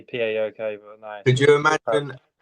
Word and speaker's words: PAOK: The PAOK, it's pronounced PAOK.